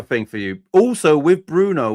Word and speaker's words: Bruno: Oh Here's another thing for you also with Bruno. We do not say in Portuguese the O at the end. It is silent letter. Brun.